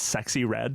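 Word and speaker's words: Sexyy Red: so I think it's pretty Her name is pronounced It's just Sexy Red.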